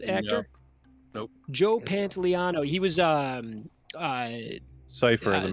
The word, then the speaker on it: Pantoliano: Pantoliano? Is that how you say it? I believe so. Uh, You guys familiar with that actor? No. Nope. Joe No. Pantoliano.